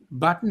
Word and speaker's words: button: Boston area whatever but when you guys use the letter T like say in the word button button has two T's but you will hear them when they say it it's not button it's button button.